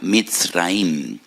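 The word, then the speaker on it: מצרים: de la esclavitud porque la palabra Egipto en hebreo se pronuncia misraim y en hebreo hay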